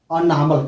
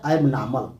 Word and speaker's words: abnormal: अनॉर्मल का। किसका? अनॉर्मल का, अनॉर्मल। इसे एनॉर्मल भी कहते हैं, एनॉर्मल भी करेंगे, एबनॉर्मल। इसका ऐसे बोलेंगे एबनॉर्मल, अनॉर्मल, एबनॉर्मल। ये प्रोनाउंसिएशन जो शुद्ध है वह है एबनॉर्मल।